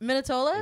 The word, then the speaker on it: Minetola: and this is minitola our third guest thank you for being on thanks for having me wonderful pronunciation my name that was perfect minitola yeah and